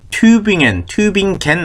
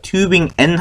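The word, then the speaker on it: Tübingen: 규팅엔 튜빙겐 아니에요. 튜빙엔 합니다. 튜빙엔, 규팅엔 이런 것들 겐 하고 쓰는 거 아니라는 거.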